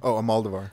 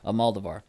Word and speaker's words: Almodóvar: Almodóvar. Almodóvar. Though I usually take pleasure in Almodóvar's sexy darkness, this film induces queasiness. This film must be credited with expressing exactly what Almodóvar wanted to say, but I am not sure